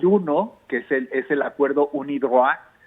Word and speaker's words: UNIDROIT: Hay acuerdos internacionales, pero hay uno que es el acuerdo UNIDROIT, así se pronuncia en francés, pero por las siglas sería UNIDROIT, en castellanizado, digamos, ¿no?